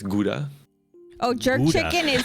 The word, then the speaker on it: Gouda: I mean, Gouda cheese, or how you pronounce it, Gouda.